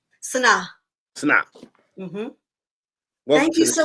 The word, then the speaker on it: Sanaa: Sanaa.